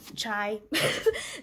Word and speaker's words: chai: from Hindi or Gujarati tell me if you pronounce cha chai different too because right now I feel like we're just the random ones that just don't say chai we say cha so let me know